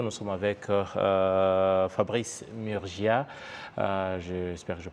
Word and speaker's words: Murgia: dans nos studios nous sommes avec euh Fabrice Murgia euh j'espère que je prononce bien votre nom tout à fait voilà